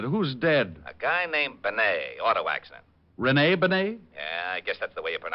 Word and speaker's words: Bennet: wait a minute who's dead a guy named Benet auto accident Renee Benet yeah I guess that's the way you pronounce it you see Otis your Mallet head you were wrong it's pronounced Benet not Benny that idiot was calling him reny Benny Walt